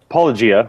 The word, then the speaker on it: Apologia: Apologia, as in Apologia. That's what I thought. To rhyme with apologia.